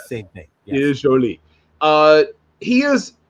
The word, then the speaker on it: Joly: So for those who for wondering, it is not pronounced Jolly, it is Joly.